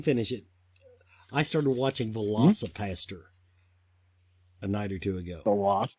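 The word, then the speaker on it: Velocipastor: Velocipaster.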